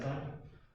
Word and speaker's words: sin: so in this example the short form for sign s-i-n-e is s-a-n even though it spells the word sin please do never say synthetic this is still pronounced as a son i understand it seemed